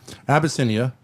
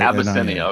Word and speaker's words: Abyssinia: So to start off with, can you just tell me how to pronounce the name of the restaurant? Sure. Abbiscinia. Ab y ss i. Abiscinia.